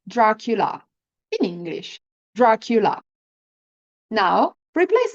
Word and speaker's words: Dracula: So now that you know how to pronounce the letter R in Italian, let's replace the letter L in the lacula with the letter R and say Dracula in Italian. Dracula.